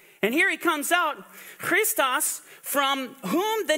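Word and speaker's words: Χριστός: continue on Chris uh Christus or Christos in the Greek I mean this is how you would pronounce it and agree it's referring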